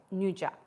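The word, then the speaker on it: nduja: Nuja, or is it Duja? N-D-U-J-A, Nuja.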